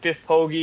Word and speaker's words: Biff Poggi: If you look this guy up, look up Biff Poggi. It's spelled how it sounds.